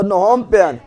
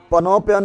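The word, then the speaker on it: Phnom Penh: लास Laos Laos का बंतयान Laos का बंतयान लास का बंतयान ये क्या है कंबोडिया क्या है कंबोडिया कंबोडिया का तो नोमपेन पनोपेन है पीएच साइलेंट है पीएच क्या है नोमपेन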